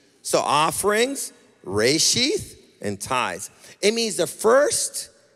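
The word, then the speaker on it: רֵאשִׁית: first fruit is a Hebrew word and it's pronounced reishi so offerings Ray sheath and ties it means the first in place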